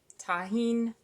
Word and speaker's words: Tajin: it's almost empty by the way it's called Tajin tahin tomato tomato however you want to pronounce it pour a little bit of this